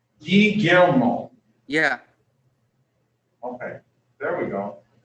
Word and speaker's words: Guillermo: Guillermo. Say that again? Guillermo. Guillermo? Guillermo. It's kind of hard. Basically, the two L's are a Y. Guillermo.